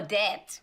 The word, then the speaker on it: debt: It's all debt. As in, we owe money. Debt in English. The b is silent.